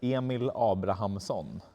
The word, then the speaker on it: Emil Abrahamsson: It's Emil Abrahamsson.